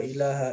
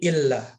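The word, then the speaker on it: إلا: La ilaha illallah, bukan la ilaha illallah, la ilaha illallah, la ilaha illallah, bukan gitu, bukan ilah, akan tetapi illah. Itu penting ya, kita perhatikan.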